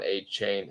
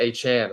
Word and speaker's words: Achane: Steve Campbell from Twitter asked, or De'Von Achane, I'm sorry. Correct myself. We had a corrective from Achane himself who said that's what he prefers, the pronunciation of it. So De'Von Achane and Raheem Mostert are available in my league.